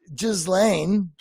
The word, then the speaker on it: Ghislaine: And then I wake up this morning seeing that Ghislaine, that's how we pronounce it.